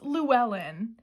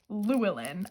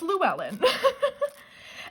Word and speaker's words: Llewellyn: It's Llewellyn, and my brain always wants to say Llewellyn. I have no idea where I got that from, but it's Llewellyn.